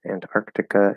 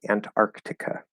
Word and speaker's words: Antarctica: flapped good question so if i really clearly fully enunciate this it would be antarctica and antarctic um so no um so they would be fully pronounced if i'm fully anyone saying the word um now antarctica antarctica um this the first t is a strong t the second t is a weak t um so the second